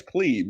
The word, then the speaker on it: pleb: Now, it's a long E, right? It's plebe, right? I don't correct anybody, no matter how they say it.